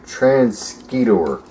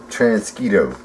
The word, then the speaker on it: Transquito: mosquito yo thank you I've said it wrong again trans skidor mosquitoes mosquito mosquito transquito yes okay thank you for clearing that up so